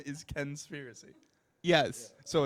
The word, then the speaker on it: Kenspiracy: no that's my last name your name is Ken conspiracy no conspiracy what's your first name Ken so